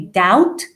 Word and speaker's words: doubt: to start doubting so see the b is silent okay doubt doubting that after the verb